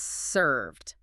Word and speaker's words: served: It's not serve, it's served.